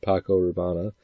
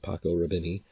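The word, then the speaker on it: Paco Rabanne: by name even though it's he he purposely mispronounces it, but it's supposed to be Paco Raana, which is uh, you know, a high-end cologne. And he calls it Paco Raveni.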